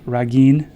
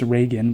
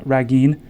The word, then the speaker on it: Ragin: called a dror ra Ragin I don't think it's pronounced Reagan but Ragin who's talking to a